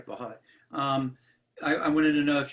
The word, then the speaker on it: Valholly: Valholly, am I pronouncing it correctly? Yeah. Okay, Valholly.